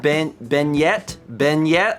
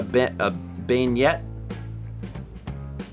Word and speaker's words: beignet: Isn't it a beignet? Is it pronounced differently? Beignet? Beignet. Like this word here. Oh. Listen, you don't. You always add the last consonant, and in French, you don't always do that.